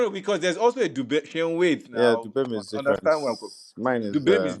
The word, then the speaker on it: Duwem: Again, we are not in the business of misrepresenting our guests and mispronouncing the names of our guests. Is it Dubem or Duvem? A Duwem now, you can see the Duwem, names.